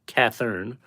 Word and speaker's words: Catherine: Florence, Catherine, pronounced Cathern, Roselle, Margie, pronounced with a hard G, and Babe.